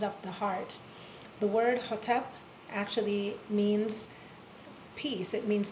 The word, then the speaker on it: Hotep: So the Ho has to be pronounced in such a way that the energy is coming up from here and contacting all of the meridians which activate and stimulate the heart.